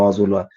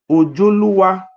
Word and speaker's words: Ozolua: It's not Oba Ozolua. The real name, pronunciation, I want to read it, the real name for you. The real name of Oba Ozolua is called Oba Ojoluwa.